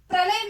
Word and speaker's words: प्रलय: प्रलय में यहाँ पर हमें अगर उच्चारण करते समय ये मालूम होता है कि प्रलय में पूरी तरह पा का उच्चारण हो रहा है, लेकिन नहीं है। देखिए अगर प्रलय को इस तरह लिखेंगे तो प के नीचे हलंत है, देखिए प को हम आधा उच्चारण कर रहे हैं, इसका प्रोनाउंसिएशन जो है आधा है, प र लय, यानी कि यहाँ पर प स्वर रहित है, र स्वर सहित है।